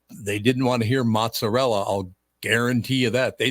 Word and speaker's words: mozzarella: word or is it an Italian word you're saying because we word into English we've anglicized it you have speak for